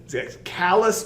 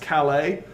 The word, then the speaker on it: Calais: this map you see dover and then it's callus but it's pronounced calais so this would be the this is the